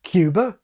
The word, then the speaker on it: Cuba: This can give you Paris, like parish and Harris, Cuba, like cube, or San Pedro, like cathedral, or Einstein rather than Einstein, and on and on and on.